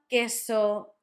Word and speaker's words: queso: Casa, barco, cuna, with the sound K, cerdo, cine, or cerdo, cine, with the sound Th, or S, and queso, quince, with that sound K.